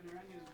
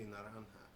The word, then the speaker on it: Naranja: I think it's supposed to be Naranja. It's just everybody's pronouncing it differently.